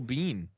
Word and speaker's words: Biehn: Turns out Michael Bihn's name this whole time was Michael Biehn. Biehn. Pronounce. Really? Yeah, Kyle Reese. No idea. And he's in The Mandalorian. He's in a lot of shit. Tombstone. Yeah. Michael Biehn. Oh no. I'm like, it can't be Bean.